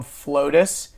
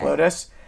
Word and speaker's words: Flotus: That's it's this place, for those of you who are listening and you live in Atlanta, it's called Flotus. It's spelled FLO2S. FLO2, like the number 2S. Okay. Flotus.